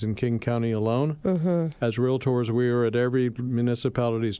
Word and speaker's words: Realtor: We have a trademarked moniker called realtor, 2 syllables, ladies and gentlemen, not realtor.